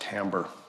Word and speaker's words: timbre: When you add the harmonics to it, you get a richness, which we call timbre, which is a strange pronunciation for that word, but that's pronounced timbre.